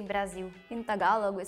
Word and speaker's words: Brasil: I think we just pronounce the L more. At least in Brazil, when we have L words, like in the end, we usually change the sound of L to U. So Brasil.